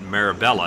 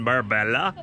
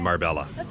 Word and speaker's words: Marbella: a couple of days we were calling it meribella until we got the correct pronunciation well this spot do ladies are we tired of the driving around looking for a parking spot in Marbella we've been driving looking